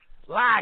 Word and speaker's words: Lager: Look, Foster's Lager. Lager. That's how you say it.